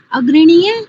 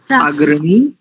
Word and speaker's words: अग्रणी: आपने चार अर्थ बताए अग्रणी ज्ञान गमन अर्थात चौथा आचार्य जी हां चौथा अर्थ है प्राप्ति अग्रण देखो शब्दों का उच्चारण ठीक किया करो अग्रणी ज्ञान गमन और